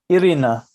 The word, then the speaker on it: Irina: please do the thing hi erina is that pronouncing your name correctly yes irina oh i love that